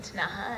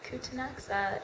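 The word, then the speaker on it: Ktunaxa: know that I had obviously read the name tanaha and I'd also like Beverly McLaughlin said kutanaxa and um but I made sure when I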